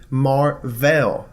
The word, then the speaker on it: Mar-Vell: who's also named Captain Marvel and it's pronounced differently Captain Marvel he was an alien